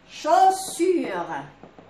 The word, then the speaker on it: chaussure: AU كنطقوها O. AU O. Par exemple, chaussure.